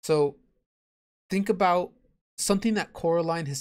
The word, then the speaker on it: Coraline: getting her name wrong they call her Caroline she keeps saying my name's Coraline not Caroline Coraline the other thing she